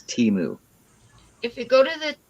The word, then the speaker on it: Temu: care it's ten moves it's Teemu with TT like tea the drink mood like a cow T is